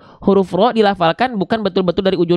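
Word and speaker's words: ر: a ya tapi pertanyaannya Kenapa huruf ra di sini enggak kita baca ra kenapa enggak dibaca Bismillahirrahmanirrahim Kenapa dibacanya kok kita dengar seperti vokal o Kenapa Bukankah fathah itu basicnya A tapi kenapa ro dibaca tidak ra nah gitu Kenapa karena huruf ro ketika fathah harus dibaca dengan mufakhamah harus dibaca dengan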